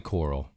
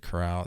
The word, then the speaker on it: Coral: Is it Cape Coral or Cape Coral? I think it's Cape Coral. It's definitely coral. Yeah. Cape Coral. Born in Cape Coral, Florida. Yeah, I don't know why I said Corral.